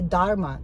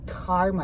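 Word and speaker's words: धर्म: I noticed a lot of a specialist here in US I'm meeting, they don't pronounce H, they say dharma, where it's supposed to be dharma.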